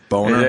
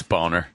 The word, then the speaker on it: Boehner: house we have Boehner I like how he pronounces his name boner it's boner it is boner it's I just look